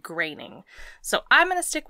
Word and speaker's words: Groening: um it's g-r-o-e-n-i-n-g but there's a bbc article that came out and it's like 10 celebrities that you're definitely pronouncing their name wrong oh and he's one of them yeah and he's one of them and they said graining so i'm going to